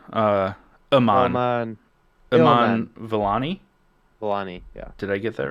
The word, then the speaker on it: Vellani: Vellani. Yeah. Did I get that right? I'm sorry if Yes. I No, you did.